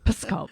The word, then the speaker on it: Pskov: a little province called Pskov. And it kind of sounds like I'm swearing. I'm not. It's just how you pronounce it. It's the name of a town. Yeah, Pskov.